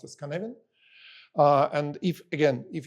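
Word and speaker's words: Cynefin: Welsh word spelled as cinefan over there but pronounced as canvan.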